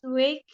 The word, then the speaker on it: weight: Annie has been lose weight since the accident. Losing, kan verb Losing, okay. ing. Ya. Losing weight since Nah, the accident. Wait, ya, cara bacanya wait. Jadi GH-nya nggak usah dibaca.